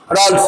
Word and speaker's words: Raoult: language में क्या लिखेंगे बोलता, कुछ आदमी को समझ में आ गया होगा, बोलो मान लो रॉल्स लॉ को हिंदी में तो तुम लिख देगा,